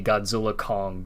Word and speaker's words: Godzilla x Kong: the director is said you're not supposed to pronounce the X it's supposed to be Godzilla Kong the new Empire and